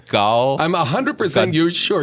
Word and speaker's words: Gal Gadot: Because you said Gail Gadot. Gal. I'm 100% sure. You said Gail Gadot. Let's say it with me again. It's Gal Yes, but Gadot.